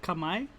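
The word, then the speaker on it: Khmer: cambodian you said it's called kamai my yes it's like k-h-m-e-r that's how it's spelled and then i'll probably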